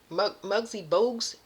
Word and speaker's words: Muggsy Bogues: I heard Muggsy Bogues after Muggsy Bogues is how it's pronounced.